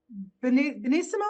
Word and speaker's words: benissimo: Oh, just benissimo. Is that how you say it Benissimo.